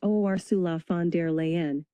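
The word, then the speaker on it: Ursula von der Leyen: Ursula Vanderlean pronounced Osula Fandere Leen is the president of the European Commission.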